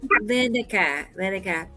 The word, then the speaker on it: Lenica: How do you say that name? It's Lenica.